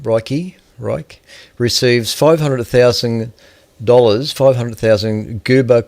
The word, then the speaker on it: Reich: okay very briefly uh Marcia Ro I think that's how you pronounce that surname Roy re receives $500,000 $500,000